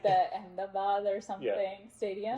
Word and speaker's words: Ahmedabad: Yeah, It's I just think he was quite at like the Ahmedabad or something stadium. It's like Ahmedabad.